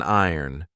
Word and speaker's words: iron: board this is an iron be careful of the pronunciation I did an entire